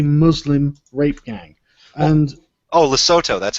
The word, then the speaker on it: Lesotho: so obviously a muslim rape gang and oh lesotho that's how you pronounce it i'm sorry i'm just i got